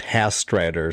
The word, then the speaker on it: Hastreiter: I am absolutely outstanding and the last name is pronounced Hastrider.